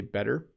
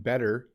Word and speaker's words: better: But yes, we say better, we say water. Water and better sound a lot like ladder, even though ladder has D's in it.